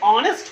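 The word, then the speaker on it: honest: जैसे इसका एक एग्जांपल बताते हैं, ऑनेस्ट, एच से शुरू होती है, लेकिन क्या हम यहाँ पे कॉन्सोनेंट है तो हम ए लिख दें, बिल्कुल गलत होगा, क्योंकि इसका उच्चारण तो ऑनेस्ट होता है।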